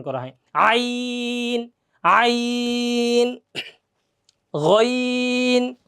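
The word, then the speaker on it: غ: গইন, গ, গইন, গইন, গ। গইনের উচ্চারণটা আমরা করব কি, গ, গ, এই যে গ।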